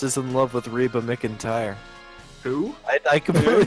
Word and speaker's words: McEntire: believe Jack Frost is in love with Reba McEntire. Who? I completely pronounced her name wrong. Reba McEntire. McIntyre, you fucking, I know, I fucked it up.